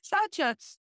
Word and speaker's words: Saucha: Saucha, which is when I started reading about saucha, which is purity, cleanliness, and clearness.